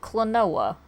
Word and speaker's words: Klonoa: five I didn't understand how his name was pronounced so you know it's cloa right I didn't know how to pronounce it